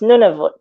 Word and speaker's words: Nunavut: you can be um it took me a while to actually pronounce it and if i talk to some of my inuit friends they'll still say no sonia so it's nunavut and so that's you